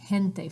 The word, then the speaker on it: gente: verb or the word gente for example was NTE is people and it's pronounced like an H so you want to